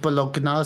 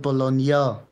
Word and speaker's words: Bologna: Aber bei den Italienern wird auch das GN anders ausgesprochen. Die sagen ja nicht Bologna, sondern Bologna.